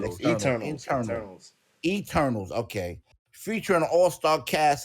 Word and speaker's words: Eternals: Marvel is gearing up for a release of their latest superhero flick, External. Did I say it right? Internal. Internal. I said external. Eternals.